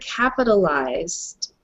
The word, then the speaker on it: capitalized: i want to mention when you read the word capitalized capital lies okay so you're just going to say capitalize and then pronounce the d capitalized capitalize okay no